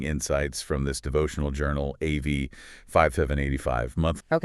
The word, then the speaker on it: Av: The Hebrew month of Av, pronounced Av.